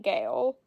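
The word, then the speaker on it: gaol: The Ballad of reading Gale it's spelled g-a-o-l for those of you who don't know 1898 about the cruel conditions he experienced in prison Gale is the prettiest British spelling for jail free is from the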